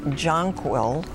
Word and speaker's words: jonquil: or white clustered flowers the alternative pronunciation is jonquil and the sentence is